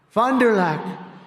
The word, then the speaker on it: Fond du Lac: They told me that's the way you pronounce it, so I hope I got it right.